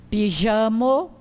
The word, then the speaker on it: pijamo: O J, né? Som de J mesmo, pronuncia-se como no J em português. Pijamo, ripeto, pijamo, jipo, jornalo.